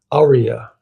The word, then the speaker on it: aria: The name comes from the Italian word air or melody and is consistently pronounced with the emphasis on the first syllable, aria.